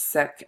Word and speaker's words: Sikh: meals I visited a Sikh temple when I was in college based on the advice of my professor who was sick sik H not unhealthy Sikh is in the religion and it was one